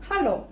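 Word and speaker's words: Hallo: Hello. Зверніть увагу на вимовлення ха hello.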